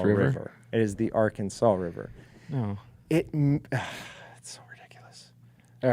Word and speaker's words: Arkansas: thing I care about honestly on how people pronounce things is that they don't say the Arkansas River that they say the Arkansas River as it comes through Kansas it is still the Arkansas River it is the Arkansas River no it